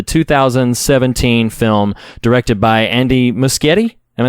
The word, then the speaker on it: Muschietti: you give the 2017 film directed by Andy muschietti am I saying it right most giddy okay so machete for those of you have never participated in